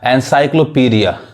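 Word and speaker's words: encyclopaedia: अब यहां देखिए एनसाइक्लोपीडिया, अब यहां पे भी ए साइलेंट है, यानी ये ए नहीं पढ़ाएगा, एनसाइक्लोपीडिया।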